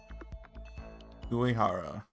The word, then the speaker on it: Uehara: Uehara. I press how to pronounce.